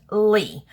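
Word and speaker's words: Leigh: I did have just my name out there, Lee, and yes, just so everybody knows, it is pronounced L-E-I-G-H, it is pronounced Lee.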